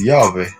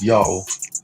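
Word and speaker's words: Ιαω: Heathen Samaritans pronounce it as Yahweh, and they pronounce it wrong. But the Yahush all pronounce it as Yao. They said it correctly because it's their God.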